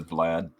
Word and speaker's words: Vlad: Sinzar, how would you pronounce it? I've always said Vlad. Vlad. Okay. We're going with Okay, so it's Vlad. then. It's Vlad, yeah. Okay.